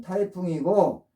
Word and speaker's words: 颱風: 그들은 그것을 태풍이라고 불렀는데 발음은 타이풍이고 그것이 현재 영어의 타이푼이 된 것입니다.